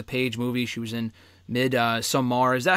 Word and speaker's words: Midsommar: She was in Midsommar. Is that how you pronounce it? It was Midsommar, right? Yes, Midsommar, yeah.